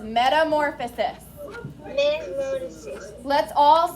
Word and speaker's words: Metamorphosis: 5 syllables. Metamorphosis. Put them all together, smooth them out, and it is metamorphosis.